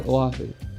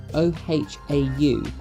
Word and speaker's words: Oahu: screen will just say Oahu however this is actually misspelled being spelled o h a u and not Oahu it's spelled correctly in